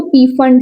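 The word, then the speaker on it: Pfund: आता है तो इसको पी फंड सीरीज कोई फंड भी बोलते हैं इसको हम लोग पी फंड बोलते हैं क्योंकि हमारे मास्टर पी फंड बोलते थे क्या समझ में आया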